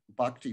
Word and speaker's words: Bhakti: And Bhakti is spelled B-H-A-K-T-I, Bhakti.